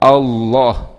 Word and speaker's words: Allah: Allah tip-tip Taklim dibesarkan cara bacanya dibesarkan bukan tarqiq jadi dalam ilmu tajwid pada bacaan tarqiq ada bacaan tafkhim kalau tertib kita bacanya Allah Ya Allah itu tertib tipis mejanya kalau Allah berat Allah ya jadi lemnya itu dibaca berat Allah Hai ah I